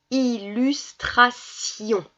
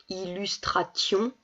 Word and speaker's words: illustration: voit ici un peu et donc ça se prononce illustration illustration ça veut rien dire donc illustration voilà on